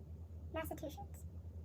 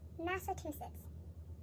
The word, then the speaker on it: Massachusetts: Massachusetts? Oh man, they just taught me how to say it and I forgot again. Massachusetts.